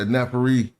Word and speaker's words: neferi: So if the word was nefer, and then you put an E for my beauty or whatever, then you say neferi, like it's one word.